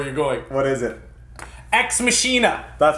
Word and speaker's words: Ex Machina: pronounced yeah I mean an automatic instinct when you read it is to say X machine at though right so X mashina alex garland this was